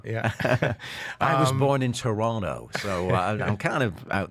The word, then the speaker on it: Toronto: And I love how Canadians say Toronto. Yeah. And I say Toronto. The T is silent.